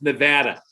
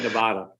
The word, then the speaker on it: Nevada: I'd have gotten to it at some point, but it's Nevada, not Nevada. You know, we take great pride in the pronunciation of our state.